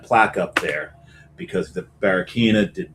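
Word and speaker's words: Barraquiña: I believe it's pronounced Barraquina.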